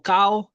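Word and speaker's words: Cão: Sí, yo pronunciaba, yo siempre lo pronuncié Cao, pero no sé por qué a veces me entraba la duda y decía también puede ser Sao, pero bueno, es tinto Cao.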